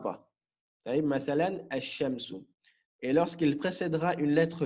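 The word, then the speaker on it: الشمس: On dira, mathalan, ash-shamsu. Donc ici, je n'ai pas prononcé le lem. Je n'ai pas dit al-shamsu. J'ai dit ash-shamsu.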